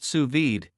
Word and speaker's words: sous vide: now you can too suid pronounced suid is a cooking technique